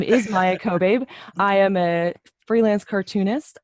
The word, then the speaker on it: Maia Kobabe: We have a special guest with us today, Maia Kobabe, non-binary cartoonist. Why don't you introduce yourself? First, I want to say you nailed that name pronunciation. Good job. My name is Maia Kobabe.